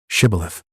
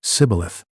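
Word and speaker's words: Shibboleth: They said, "All right, say shibilith." If he said cibilith because he could not pronounce the word correctly, they seized him and killed him at the fords of the Jordan.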